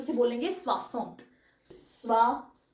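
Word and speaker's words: soixante: आगे अगर 60 आ जाएगा तो उसे बोलेंगे स्वास स्वा स 60 ओके एस ओ आई एक्स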